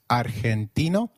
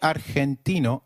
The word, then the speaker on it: argentino: Did you notice that Argentino is pronounced as Argentino? In Spanish, G, when followed by E or I, is pronounced like a throaty H. So try saying Argentino again. Argentino.